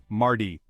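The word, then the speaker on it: mardi: day is Tuesday or Marty in French we pronounce it Marty chapter 15 we've reached the middle of the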